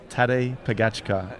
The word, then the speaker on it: Pogačar: Well, how do you pronounce his name? Tadej Pogačar.